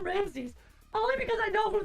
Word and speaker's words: Ramsay: I was about to say Gordon Ramses. I was like, oh, it's Gordon Ramsays.